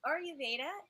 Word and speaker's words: Ayurveda: And so explain to everyone about, and I have a hard time pronouncing the word, Ayurveda? Is that how you say it? Yeah, so Ayurveda is 5,000 years old.